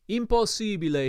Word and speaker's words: impossibile: Impossibile, he protested, pronouncing the word with long Italian vowels. Impossibile!